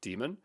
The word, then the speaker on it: daemon: or demon or Dame I'd like saying Daemon that's definitely not how it's pronounced it's demon but this is basically